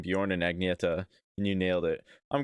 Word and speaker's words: Agnetha: Especially Agneta. Yeah, I mean, to be fair, I was pronouncing it Agnetha for a while. I'm pretty sure in the US there's people named Agnetha instead of Agneta.